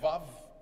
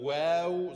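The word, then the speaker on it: واو: auf Deutsch geschrieben, ja, das ist kein Wav, ja, sondern wow soll das ausgesprochen werden. Und es ist auch kein W, es ist kein W, manche lernen das als W. Ja, sondern wow, wow, ja, also jeder kennt das wow, nur ein bisschen sanfter,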